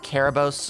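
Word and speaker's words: Κέρβερος: know yeah no the the Greek name first for Cerberus with the K is like pronounced care like caribos or something like that it's slightly different pronunciation uh it was anglicized into the softer C Sound um I may be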